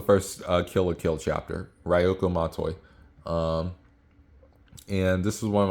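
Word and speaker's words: Ryūko Matoi: language and I don't even know how to pronounce it. It's Ryoku Mat, oh my goodness, Ryoku Matoi. This, in other words, it's the first Kill la Kill chapter, Ryoku Matoi.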